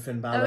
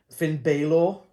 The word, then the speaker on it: Balor: of the match days Finn Balor I think he called him he called him Finn Balor yeah because it's spelled b-a-l-o-r there is no way you could get that wrong but you did see come